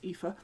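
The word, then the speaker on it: Aoife: brano and um epha epha is spelled just to be really confusing a o i f e pronounced epha um through the open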